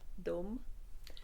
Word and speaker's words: Daum: So in French, you would say Daum. As in Puy de de Dôme. Dôme. Yes, that's spelled differently, but it's pronounced exactly the same.